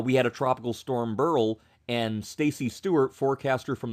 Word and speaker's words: Beryl: great guy he said the correct pronunciation of tropical storm Burl is burl just like the last name of Milton burl so if you hear